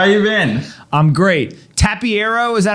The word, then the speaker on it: Tapiero: Tapiero, is that how I say it?